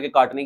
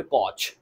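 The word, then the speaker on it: Koch: उसका नाम है रॉबर्ट कॉच। ठीक है, इसके स्पेलिंग रॉबर्ट कॉच है, असल में पढ़ते इसको रॉबर्ट कॉक है।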